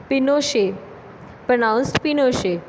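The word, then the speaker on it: Pinochet: Military corp general Augusto पिनोशे, pronounced पिनोशे, and army general lead the corp.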